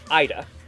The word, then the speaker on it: Ida: But in Japan, she's called Ida. Huh. Yep. At least that's how I pronounce it. It's spelled IDA if you were to put it in English alphabet.